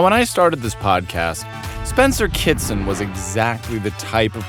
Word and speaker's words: Spencer Kitson: So, Spencer Kitson, am I pronouncing that correctly?